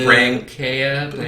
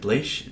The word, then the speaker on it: Blecha: That's why I was like Chelsea Brankea. No, it's like Blecha.